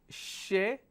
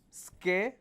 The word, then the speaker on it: schedule: The British way of pronunciation is schedule. This is British way. Does that mean this is American way? No. American way of pronouncing this word is schedule, J-U-L-E, jule. Americans pronounce this as schedule.